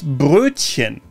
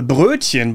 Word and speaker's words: Brötchen: The Brötchen, by the way, is a small bread roll. This one trips people up a lot because of the tricky Ö sound. The English mispronunciation here often is Brötchen.